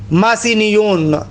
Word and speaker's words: ماسینیون: بہت زیادہ کام ہے، لوئی ماسینیون، میں فارسی تلفظ کے ساتھ ادا کر رہا ہوں، خوب ایک بہت بڑی